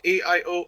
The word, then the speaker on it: iyO: after a trademark dispute with EYO which is pronounced AIO audio.